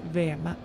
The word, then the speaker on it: Veme: Nightflower, you pronounce Veme. This station is pronounced Veme.